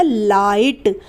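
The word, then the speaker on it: light: हम ए आई पढ़ेंगे और ये जो ग है इसका इस्तेमाल नहीं किया जाएगा यानी की साइलेंट रहेगा तो ये बन जाएगा लाइट ल आई जी हा टी लाइट इस तरीके से जब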